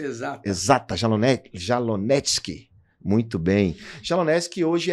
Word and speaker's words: Jalonetsky: Pronúncia exata. Exata, Jalonetsky.